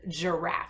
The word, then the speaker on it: giraffe: And the soft one sounds like J, like George, and giraffe.